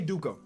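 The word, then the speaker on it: Dickau: duke who i mean i'm always going to pronounce it dukkha i guess you could pronounce it a couple different ways i'm gonna always say dukkha most improved player haven't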